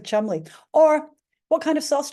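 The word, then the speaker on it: Cholmondeley: heard of this word you might say CH Monday guess how the English say it she's the marchess of chum right the speaking and the spelling of two different beasts they've gone completely differently March marchess of Chumley or what kind of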